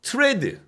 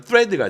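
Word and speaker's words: thread: 굉장히 많이 사용되는 스타일이거든요 트레드 그러니까 정확한 발음은 프레드가 되겠죠 th이니까 트레드는 실 그리고 니들은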